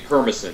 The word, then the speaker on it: Permison: It would be Permison, that's how you pronounce it.